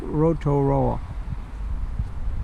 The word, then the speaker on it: Rotorua: back to its original Maori name of Lake Rotorua. And Lori, please give me the proper correct pronunciation of that.